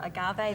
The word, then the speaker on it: agave: That's agave nectar or agave. There's so many different ways to pronounce it.